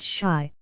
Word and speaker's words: Chi: boy and printer bow Kai pronounced Shai by the way is the Argo for Chicago a favorite device of